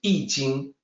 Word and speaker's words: Jing: Jing is supposed to sound like Jing, but nobody knows that, so it gets mispronounced.